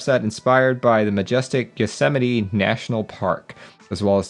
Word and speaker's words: Yosemite: to the united states i always used to pronounce this as yo smite yo smite you know until my until my wife corrected me as we drove through yosemite national park i was like oh we get